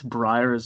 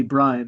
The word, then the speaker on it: Brian: his accent he'd mispronounce Breyers brayer seriously where did I knew this yeah like really early group discussion the videos he doesn't call me Brian he calls me Breyer like after my suit